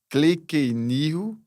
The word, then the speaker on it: Kleykeniho: Como que eu pronuncio o seu nome completo? Cleenirro fun.